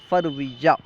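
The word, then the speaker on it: فوریه: زانویہ، جنوری، زانویہ۔ فروری، فروری کا فارسی تلفظ ہے فرویہ۔ مارچ، مارچ کو فارسی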